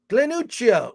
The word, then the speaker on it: Glenuccio: Glenuccio. It's with 2 C's. Exactly how I pronounced it.